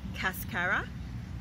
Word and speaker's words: cascara: Did you know that the coffee bean is a seed known as cascara? It rhymes with mascara.